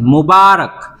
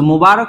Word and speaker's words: মোবারক: Arabic থেকে নিছেন মোবারক। সো মোবারক শব্দটা আপনার যেভাবে আছে ঠিক সেভাবে আপনাকে উচ্চারণ করতে হবে।